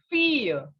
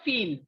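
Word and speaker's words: fille: again fish okay and daughter in french is fear not feel feel is in english it is in french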